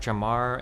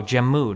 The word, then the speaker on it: Jammu: is it the jammer jamar and what are these called? Oh god I don't remember how to pronounce these Indian cashmere. Oh Jammu not Jamar Jammu and Kashmir.